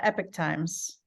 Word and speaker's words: Epoch Times: to Google it um it's uh epic times it's what it's spelled at the times I don't